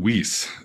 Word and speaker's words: Wyss: many people haven't heard how do you pronounce his name the Swiss billionaire Hans jorg whis w-y-s-s people talk about um